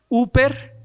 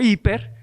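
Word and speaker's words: ὑπέρ: Está compuesta por la palabra o el prefijo huper, que quizás algunos lo pronuncian en griego más moderno como hiper.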